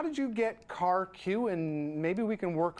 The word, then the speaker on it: KarQ: so maybe a little how did you get car q and maybe we can work on something for myself um car Q is actually my Chinese name uh it is pronounced in in in Chinese my ethnic name but